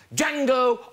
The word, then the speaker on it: Django: That's Django Unchained. Yes, yes. The D is silent.